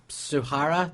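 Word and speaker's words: Tsujihara: Warner Brothers right this guy called Sav Kevin suara t s UJ a h a r a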